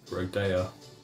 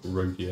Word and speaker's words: Rodea: my name is Roa so that's how you pronounce it rodea I was calling it all sorts like Rodeo name isod okay why